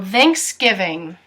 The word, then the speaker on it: Thanksgiving: T uppercase T only so Thanksgiving thing you'll notice it sounds like there's a G in between the N and the K they vein vein